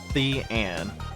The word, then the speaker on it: Thean: Thean is pronounced Thean, with a the being the same as theater.